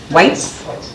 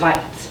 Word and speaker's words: Weitz: Whites? Okay. German pronunciation is Weitz, but I married into it.